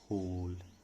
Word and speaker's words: whole: तो whole का मतलब complete, इसमें W साइलेंट है और इसको क्या पढ़ा जाता है, whole।